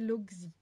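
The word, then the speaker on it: Lóczy: Amy Pikler est à l'origine de la pédagogie Lotzi, prononcée Logzi en français.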